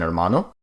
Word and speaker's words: hermano: First off, the H is silent, such as in hermano.